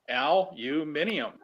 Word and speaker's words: aluminium: Minium, Yeah, Aluminium. aluminium. That and Well, Albert. that's the UK and Australian pronunciation of aluminum.